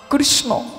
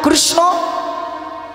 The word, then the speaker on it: কৃষ্ণ: কৃষ, এই যে উচ্চারণের সময় থর থর থর থর করে দেখুন জিভটা নড়বে একবার।